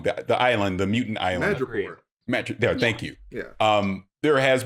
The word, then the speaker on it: Madripoor: And again, I've learned to not expect too much, but we know that Madripoor. Oh, I'm saying the name wrong. The island, the mutant island. Madripoor.